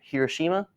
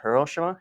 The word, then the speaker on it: Hiroshima: This was dropped over Hiroshima or Hiroshima, depending on how you pronounce it.